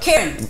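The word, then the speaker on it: Ciarán: Karen.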